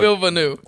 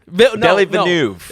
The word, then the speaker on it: Villeneuve: No, Denis Villeneuve. Villeneuve. Oh, wow. We've learned, folks. Here we go. 6 different ways to pronounce it, but we think we nailed on the proper one.